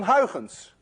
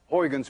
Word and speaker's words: Huygens: You see, this sound, UY, is pronounced in Dutch as ui. None of you can say ui unless you're Dutch. To make it worse, this sound you don't have either in English.